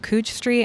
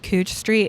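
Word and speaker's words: Couch Street: The next coffee shop is Good Coffee, which is on Cooch Street and 11th Avenue. Yes, I said Cooch Street. It's spelled couch. It's pronounced cooch.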